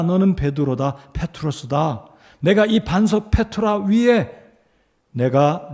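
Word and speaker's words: πέτρα: 페트로스다 내가이 반석 위에 내가 내 교회이 반석은 페트라 자 발음이 좀 비슷하죠 너는 페트로서다 내가이 반석 페트라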